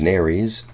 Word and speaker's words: nares: The name that we give these two holes is nares. It's helpful to know the word rhymes with fairies.